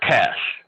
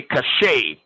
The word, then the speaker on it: cache: is referred to as cash um this this word is like cash like money cash right some people say cachet but it's actually cash like like c-a-s-h cash